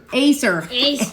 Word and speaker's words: Acer: Have Elijah bring me that Acer so I can show him that cheap computer.